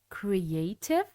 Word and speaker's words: creative: You can start by saying creative, but with practice, the T would become smoother and it is pronunciated creative. So, creative meaning able to think of new ideas or make something new.